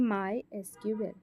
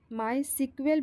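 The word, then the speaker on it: MySQL: तो इसका आधिकारिक उच्चारण है friends option number see माय एसक्यूएल। दोस्तों इसे अक्सर जो बोलचाल में माय सीक्वल भी कहा जाता है लेकिन आधिकारिक तौर पर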